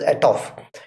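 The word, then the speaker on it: atof: function a to f a t o f at off it's pronounced as at off it converts a string to double so suppose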